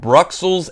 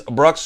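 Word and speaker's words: Bruxelles: a new version of bruels 1893 uh this is bruels 1893 Bell Epoch U someone told me that the proper pronunciation of this I think is bruel bruel 1893 I'm too dumb to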